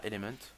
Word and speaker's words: Element: Bon, après, live avec ma team qui s'appelle Element, j'ai oublié de le préciser. C'est comme un élément en français, sauf que nous on le prononce en anglais parce qu'on est des beaux gosses. Donc là, Element, voilà.